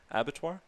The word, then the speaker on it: Abattoir: have a group exhibition coming up with Abattoir. Is that how you say it? Definitely. Yep, exactly.